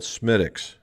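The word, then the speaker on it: Smithwick's: was an ale and it was called smitics and it's it's spelled out smithwicks but smitics and smitix and this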